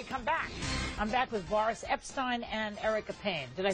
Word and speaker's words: Boris Epshteyn: I'm back with Boris Epshteyn and Erica Payne.